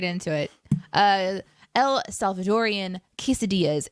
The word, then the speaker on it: quesadillas: great twist on it and it's it's it's pronounced uh quesadillas uh just so you know casetalas is how uh our good friend ian produces uh pronounces it cassette elas because settlers yeah just prepare yourself for that